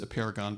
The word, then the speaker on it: Apeirogon: math Greek word which column tells me he's pronounced a Paragon but he doesn't speak Greek any other do i so we don't really know but it's one of those